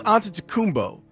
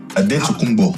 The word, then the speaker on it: Antetokounmpo: Giannis Antetokounmpo, and I know that I just said it wrong because I'm used to saying it that way, explained what his name actually is. Your name is Adetokounmpo. Yes. Adetokounmpo.